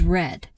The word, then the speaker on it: read: we use has and the past participle form of read is red the spelling is the same only the pronunciation changed so Lucas has read this book several times 2.